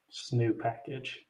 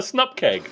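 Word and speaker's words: snupkg: symbols new get package how do you pronounce that one SN package no it's a snup keg obviously it just rolls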